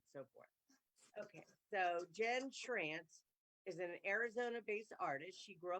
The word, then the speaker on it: Schrantz: How do you pronounce Schrantz. it? Okay. Schrantz. I'm not going to try, but It rhymes welcome. with ranch. Yes. Okay, there you go. Trance. Schrantz.